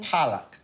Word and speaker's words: palak: Palak.